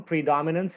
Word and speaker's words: predominance: Pre is an syllable, and dom, this is the part that receives most of the stress.